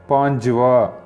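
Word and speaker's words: पाँचवाँ: வா மட்டும் சேர்த்தால் போதும் பாஞ்சு வா ஆனா எழுதும்போது வான் அப்படின்னு வரும் பேச்சு வழக்குல அந்த ன் சைலெண்ட்டாவி ங் வடிவத்துல வரும் அது உச்சரிக்கவில்லை என்றாலும் தவறு இல்லை அடுத்தது பாருங்க ஏழாவது ஏழுக்கு வந்து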